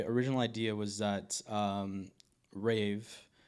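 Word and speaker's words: RAV3: My my original idea was that um rave that's how you actually pronounce RAV 3.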